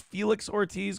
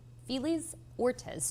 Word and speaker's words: Felix Ortiz: B Smita the F how did she pronounce Felix Ortiz go back to that police say 42-year-old felis ores J feel is ortis is this [ __